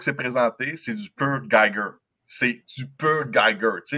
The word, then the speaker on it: Giger: Fait que c'est du typique HR Geiger, ou je sais pas si c'est JG ou Geiger, qu'on prononce, là. Giger. Giger, il est allemand. C'est un allemand, c'est Giger.